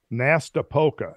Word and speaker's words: Nastapoka: it exactly right, but it looks like it would be something like, I can spell it, Nastapoka, N-A-S-T-A-P-O-K-A, the Nastapoka Arc.